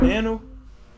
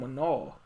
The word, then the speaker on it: Manal: You said Manu? Her name Manal. Her name Manal. Manal. Take the M off. How do you say it? Take the M. Shut up. Anal. So add the M, it's Manal.